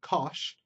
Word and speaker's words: cosh: Hyperbolic cosine, which is sometimes called cosh, is e to the x plus e to the negative x over 2.